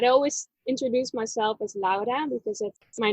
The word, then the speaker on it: Laura: the US but I always introduce myself as LA because that's my name that's how we pronounce it in Dutch as well but here everybody's like oh hey Laura that's funny funny I always have to remember